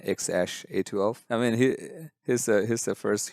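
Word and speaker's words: X Æ A-12: I think Elon Musk did show up in Joe Rogan's podcast recently, and he was like, it's pronounced X-A12.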